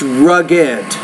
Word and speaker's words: rugged: When you say the word, it's rugged. ED at the end. You have to create a new syllable there.